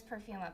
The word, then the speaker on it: Perfuma: Oh, they say her name is Perfuma, by the way.